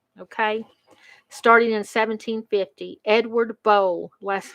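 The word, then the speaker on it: Bole: catawba river waterway okay starting in 1750 edward bowle last name b-o-l-e robert c ford robert mccaffen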